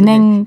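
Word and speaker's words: Bénin: 그래서 전 베닌이라고 사실은 들었어요. 베냉, 베냉이라고 이제 프랑스 나라의 이제 푼족이라고 네. 그 언어로는 조금 더 발음이 베냉에 가깝더라고요.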